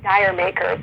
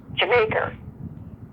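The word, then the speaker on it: D'yer Mak'er: And we all when I was growing up, we'd all say Dire Maker, but apparently the way they intended the pronunciation to be was Jamaica.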